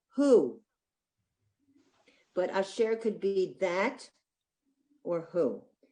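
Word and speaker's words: אֲשֶׁר: It just shows that there are two syllables in the word, share, and it shows that you would pronounce that asher, that it stresses on the second syllable.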